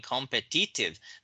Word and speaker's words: competitive: So only the second syllable here is stressed.